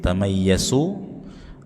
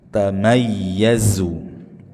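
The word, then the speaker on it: تَمَيَّزُ: Tamayyazu zazizu, ya dibaca dengan sofir desisan, jangan dibaca mirip sin tamayyasu atau mirip jim tamayyaju. Tamayyazu.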